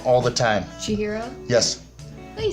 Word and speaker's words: Chihiro: So, you're about to watch a video of me chatting with Chihiro Howe while she draws that super cool thing right up there.